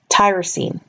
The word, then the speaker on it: tyrosine: a note all of these terms like the names of the different nitrogen bases or the names of these amino acids all tender rhyme with the word scene or team so for example you pronounce them phenyl alanine serine tyrosine cysteine leucine prolene glutamine etc